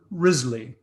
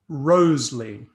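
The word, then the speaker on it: Wriothesley: men to women now modern scholars pronounce his name as i just have risley but there's some compelling evidence that shakespeare and others pronounced his name as rosely and that the male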